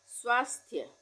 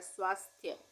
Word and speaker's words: स्वास्थ्य: से स्वास्थ्य लिखा जाएगा क्योंकि उच्चारण क्या हो रहा है स्वास्थ्य आधे स का उच्चारण हो रहा है स्वास्थ नहीं हो रहा है तो य प